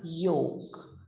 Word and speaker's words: yolk: y o l k we are not saying yolk we are saying it as y o k we are we are the sound which is going to our ears is that of y o k now small little